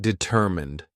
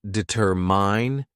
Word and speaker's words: determine: Somebody pronounced determined. It does not deter mine, it does determine.